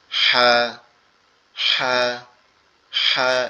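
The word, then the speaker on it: ح: এটা উচ্চারণ হবে আমাদের এই কণ্ঠনালীর মধ্যখান, অর্থাৎ আমাদের গলার যে একটা উঁচু হাড় আছে এই জায়গাটা থেকে হা হা হা, এরকম একটু ফ্যাস ফ্যাস আওয়াজে গলা চেপে আওয়াজ হবে।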